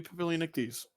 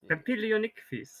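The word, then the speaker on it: Papilionichthys: There's not a ton known yet about Iniopterygians, but yeah, little baby Papilionictes. That name's a mouthful. It means butterfly fish, basically. Papilionictes. Papilionictes. Papilionictes. You would not say the double L.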